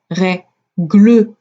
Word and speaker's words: règle: Je dis pas règle, je dis règle. Il n'y a qu'un seul son, qu'une seule syllabe.